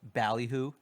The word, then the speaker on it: Ballyhoo: such as Ballyhoo. Is that how you pronounce it?